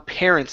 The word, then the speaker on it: parents: is the pronunciation on parents instead of saying parents okay give me a good R sound there so it's pair Parents